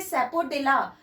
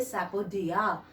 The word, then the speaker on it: sapodilla: तो सबसे पहले आप दिमाग में तो रखे सैपोडिला, लेकिन मुंह से बोले सैपोडिया.